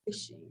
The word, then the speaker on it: phishing: So let me jump into what is phishing. The concept is pronounced like the term phishing, the action verb to fish.